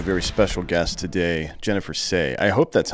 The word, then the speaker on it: Sey: we've got a very special guest today Jennifer say I hope that's how you say it because